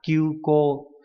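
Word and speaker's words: 急行: Đọc là kyuko. Cả hai đều có trường âm.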